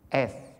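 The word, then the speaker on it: עת: MM bisa munculkan eth. Itu untuk pertama kali, terus klik.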